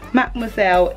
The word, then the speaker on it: Mademoiselle: Mademoiselle in shade Candy Venom.